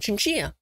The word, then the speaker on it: chinchilla: If you're Spanish, you would see the word chinchilla and pronounce it chinchilla.